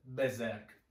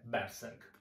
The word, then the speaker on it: Berserk: anime che si chiama, con la pronuncia corretta sarebbe Berserk. But, come direbbe in inglese, but. Io sono cresciuto, abituato a sentirlo chiamare Berserk. Quindi lo chiameremo Berserk.